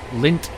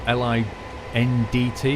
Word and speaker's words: Lindt: A lot of people like Lindt chocolate, L-I-N-D-T, I think it's spelled, Lindt.